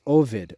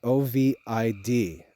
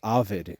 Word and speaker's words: Ovid: or Master poet is Ovid o v i d Ovid or sometimes it's pronounced Avid in English he wrote a work